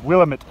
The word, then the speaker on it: Willamette: Actually, I think we pronounce our own home wrong. It's Willamette. It's a Native American word, not a white man word.